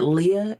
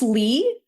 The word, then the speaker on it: Leigh: like the way that is it Leah? Is that how she pronounces her name? The author? I think it's Leigh. Leigh? Okay, Leigh.